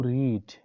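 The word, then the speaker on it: read: Same spelling होते हैं, मगर उसकी जो हमारे पास प्रोनंसिएशन होती है वो हमारे पास चेंज हो जाती है, वो रीड से रेड बन जाती है।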